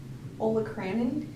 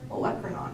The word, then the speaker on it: olecranon: I always say Olacranon because that helped me spell it when I was studying it, and so but now like everyone calls it like Olecranon.